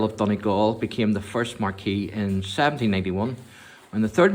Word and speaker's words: Marquis: I call it Marquis, but I think it's Marcus actually, the way you pronounce it.